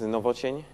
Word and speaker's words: Nowocień: To pronounce my name is Nowocień. Yeah. That's the correct way to pronounce.